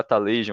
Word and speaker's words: Atlassian: Eu achava que era Atlassian ou alguma coisa assim. O certo é da pronúncia Atlassian. Atlassian.